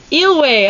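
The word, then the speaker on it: Eyllwe: I'm gonna check. I gotta fact check myself. Is it a fact or is it just Eelway! I said it right!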